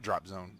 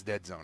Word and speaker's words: European Dead Zone: It's not Drop Zone. It's Dead Zone. I was saying it right the first time.